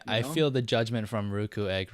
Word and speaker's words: Ruukuegg: I'm doing swell it is called it is pronounced ruku egg right correct yeah okay good we have had